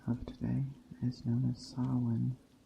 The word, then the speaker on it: Samhain: where the holiday of today is known as sa spell spelled s a m h a i n s if you other pronunciations are or of course it's a